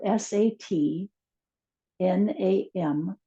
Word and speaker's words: sat nam: It's spelled s a t n a m. It's pronounced sat nam.